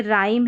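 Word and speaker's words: rhyme: यह भी rare spelling आपको मिलेगी। तो देखिए यहां पर जैसे राइम है और रिदमम है।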